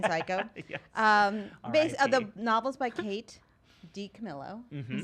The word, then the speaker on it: DiCamillo: The novels by Kate DiCamillo.